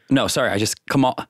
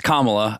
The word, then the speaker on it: Kamala: Kamala. Yeah. It's Kamala. I was saying Kamala.